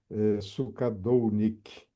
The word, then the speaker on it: Sukadolnick: Ok, bom, olá meus amigos, todos que vão nos assistir aí, Anderson, meu amigo aí de longo tempo também, companheiro Dino, Sukadounik, ou Sukadonic. Sukadounik.